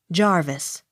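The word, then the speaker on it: Jervis: s hughes j e r v i s jarvis j o h n s t o n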